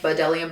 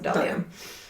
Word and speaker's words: Bdellium: So I use Delium tools a lot, and they're spelled BDELLIUM. It's like Badelium, but you pronounce it Delium.